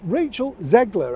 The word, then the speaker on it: Rachel Zegler: time today I hope you're keeping well yes Rachel zegler I think is the way that you pronounce her name very young actress just starting